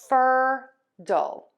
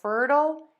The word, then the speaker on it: fertile: So to pronounce these words, we are going to stress syllable one in both of these root words. So we have fer-dul and equal. So fertile and equal.